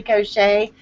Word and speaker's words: Cochet: I have been informed that her name is actually Cochet and not Cochette, as us Southern folk like to say. So if you are wondering how to say it, that's how you say her last name.